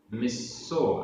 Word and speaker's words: मिस्सो: मिस्सो, मिस्सो आधा सा पूरा सा, मिस्सो ती आधा त पूरा ता, ती।